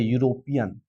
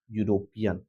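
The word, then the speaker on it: European: यदि इन सारे वर्णों से शुरू होता है इसका उच्चारण तो एन का प्रयोग करते हैं। लेकिन यहां बताइए यूरोपियन। इस प्रकार से पढ़ा जाता है ये यूरोपियन।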